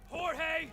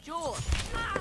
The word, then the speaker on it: Jorge: last one up Jorge my name is pronounced Jule don't you backtalk me